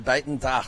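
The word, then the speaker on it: Buitendag: what does she have to say yeah perfectly pronounced there Bon D that's how you do so man I've had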